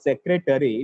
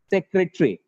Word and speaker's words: secretary: word has four syllables but actually the pronunciation of this word is not secretary it is secretary the pronunciation of this